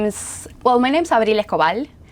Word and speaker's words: Abril Escobal: Uh, my name is Well, my name's Abil Kal. That's the name and that's how you pronounce it, but you can call me Abby.